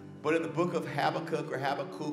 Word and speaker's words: Habakkuk: But in the book of Habakkuk, or however you want to pronounce it, Habakkuk. So I've had all different seminary professors, they all pronounce it different, you know, this kind of thing.